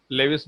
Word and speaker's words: Lewis: लेविस बोलो, लुइस बोलो, तुम्हारे अंग्रेजी के ऊपर डिपेंड करता है, हम लेविस बोलेंगे ताकि प्रोनाउंसिएशन करने में आसान हो।